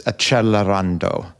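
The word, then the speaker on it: Accelerando: Uh like a 100% uh and as some of my readers like to remind me, the more proper pronunciation is Acchelarando.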